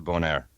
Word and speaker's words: Bonaire: hour flight down to bone air which I learned it's called pronounced bone air not Bonaire bone air Oh an